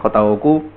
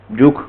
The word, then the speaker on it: jOOQ: Vale, pues voy a hablaros de JOQ, Juk, como se debería pronunciar, pero lo pronunciaré JOQ muchas veces porque es la costumbre.